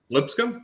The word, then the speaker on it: Lipscomb: doing doing great and uh they are playing lipscomb tonight at nine o'clock in a-sun foe so are you sure is that right because i never know how is that the right way to say that school lipscomb yeah yeah lipscomb they're out of nashville tennessee